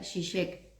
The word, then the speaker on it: Žižek: de Europa del Este, que por ejemplo Slavoj Žižek, que también es esloveno, se pronuncia Žižek.